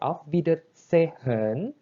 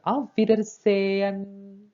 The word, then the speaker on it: auf Wiedersehen: Jadi itu dibacanya bukan auf Wiedersehen, melainkan auf Wiedersehen.